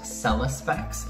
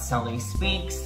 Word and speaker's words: selespex: name here it's pronounced selespex not sally speaks not not selling specs not no none of those sellers specs sell list specs kind of rhymes with selling sex sell respects selling sex